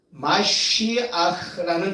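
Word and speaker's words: מָשִׁיחַ: 마시아흐라는 단어입니다. 마시아흐. 발음이 메시아와 비슷하죠? 예.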